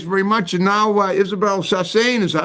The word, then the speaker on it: Saasen: And now, Isabelle Sassin, is that how Sassin, how do you say your last name? Sassin. My ex-husband was Dutch. Okay. It sounds like you're sassing somebody.